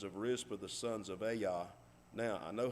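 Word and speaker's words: Ajah: j a h that's a yah it has to do with the hebrew language the j is a y yahweh jehovah jehovah and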